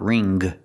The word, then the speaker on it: wring: The W is silent, so we use the R sound.